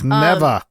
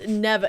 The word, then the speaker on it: Neva: game is called Neva at first I didn't know if it was never or or how to pronounce it but actually in the game she says the character's name so this game is an yeah right cuz I'm like man I'm from the Midwest mispronouncing is kind of in my bread and butter but like so it's neeva it's neeva it is Neva and so um it's